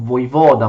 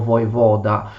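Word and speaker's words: воевода: La carica del comandante militare locale, il voivoda, una parola che in italiano pronunciamo voivoda, ma in russo si pronuncia più o meno voivoda, fu estesa questa carica del voivoda a tutto il paese, mentre prima non era così.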